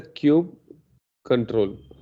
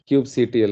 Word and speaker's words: kubectl: It is a kube control, kubectl otherwise. Somebody call it as kubectl. It is pronounced as kube control or kubectl or kubectl. So this pronunciation, it depends on each person.